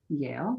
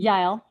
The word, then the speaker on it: Yael: about your collaboration with Yale. Is that how you pronounce her name? Yael. Yael. Okay. Yael. Yeah.